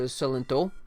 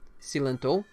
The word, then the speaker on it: Cilento: yikes okay oh and the accent is on the o so celento si lento he's born in 98